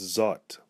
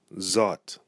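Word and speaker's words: zòt: over the Oh and when it falls over the Oh a changes the sound of the Oh - aw aw and so we find it in words many words words such as zot zot zot is a personal pronoun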